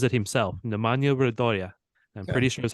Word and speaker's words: Nemanja Radoja: Just as a reminder, I sent you the pronunciation that he says it himself. Nemanja Radoja.